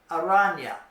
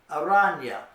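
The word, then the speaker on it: araña: in y in English like in the English word Canyon Canyon or onion it's kind of like that so you'd say I Una aranya there is a spider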